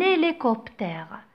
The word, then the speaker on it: hélicoptère: Donc, c'est un hélicoptère. Un hélicoptère. Vous entendez, j'ai fait quoi? J'ai fait la liaison. Un hélicoptère. Pourquoi j'ai fait la liaison? Parce que le H de hélicoptère est un H muet.